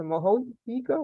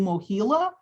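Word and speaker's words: Mohela: So my things got turned over to Mohica. What's how you pronounce it? Mohila. It's Mohila.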